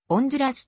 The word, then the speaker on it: Honduras: 共和国通称ホンジュラスホンジュラスは英語読みでありスペイン語では音ずらすと発音するこの名の由来